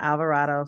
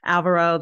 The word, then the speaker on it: Alvaro: name wrong first time Alvaro it is not Alvarado sorry I don't know what I was thinking Alvaro that I've heard from